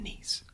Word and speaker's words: Nice: was officially changed to nice like the french city of nice which rhymes with geese however even after 150